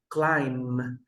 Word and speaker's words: climb: climb, climb.